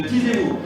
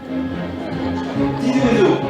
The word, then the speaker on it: Ti Zwezo: Karine Doran de Tizéou. Tizouézo, c'était ça, donc j'ai mal prononcé, je reprends.